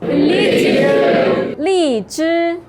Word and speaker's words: 荔枝: 荔枝. So the pronunciation is very similar to lichu.